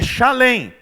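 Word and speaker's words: Shalem: chamada Salem que significa paz na verdade a pronúncia não essa lenha chalem que é derivado de Shalom que significa paz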